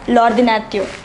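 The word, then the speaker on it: l'ordinateur: ordinary it means computer since it begins with a vowel we place l apostrophe we read it as lordinatio the next word as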